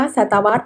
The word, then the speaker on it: ศตวรรษ: ข้อ ก ไก่ ดัชนี คำ ว่า ดัชนี และ คำ ว่า ศตวรรษ ออก เสียง เหมือน กัน ก็ คือ เสียง ตัว สะกด เสียง ตัว สะกด ออก เสียง ด เด็ก คือ แม่ กด ตัว สะกด ของ คำ